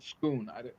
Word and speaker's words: Scone: stone of spoon and it's spelled it's spelled scone but called schoon because they can't pronounce I